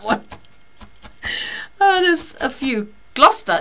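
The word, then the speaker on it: Gloucester: oh there's a few gluster is is a funny is a funny pronunciation because it should be glester shouldn't it so anyway um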